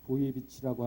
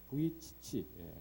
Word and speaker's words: 부이치치: 닉 부이비치라고 하는 호주의 닉 부이치치 그렇게 발음할 수 있네요.